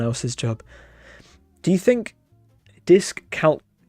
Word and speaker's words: dyscalculia: Dyscalculia. Dyscalculia. Stress on the third syllable, on the Q syllable. Dyscalculia.